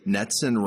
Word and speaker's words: NETCCN: First and most importantly, NETCCN rhymes with Jetson.